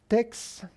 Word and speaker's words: TeX: The program that we call TeX, lower cases and Latin pronunciation, is in fact not a program by itself.